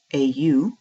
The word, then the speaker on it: au: Pronounced exactly the same as o, au.